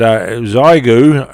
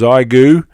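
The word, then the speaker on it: Xiegu: transceiver with tuna and zyu I presume is uh correct pronunciation or thereabouts it's spelled x-ray India Echo golf uniform I think pronounced as igu and it's an x610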